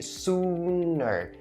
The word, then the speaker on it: sooner: It's wrong because it's a straight up oo sound. So you have to say sooner. Sooner. And don't ever forget to roll your tongue in order to make that R sound at the end of this word very clear and distinct.